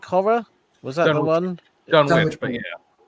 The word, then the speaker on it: Dunwich: Dunwich, but yeah. I always call it Dunwich because there's places over here spelt like that which are pronounced Wick.